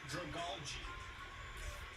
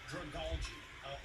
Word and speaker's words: Dragalge: Mega Stone for Clefable, Scrafty, Salamence, Metagross, and Dragalge. I'm going to learn it. You know, I'm looking it up. Okay, on the official Cerebi Say Every Single Pokemon's Name Right, it says Dragalge. Really? Dragalge.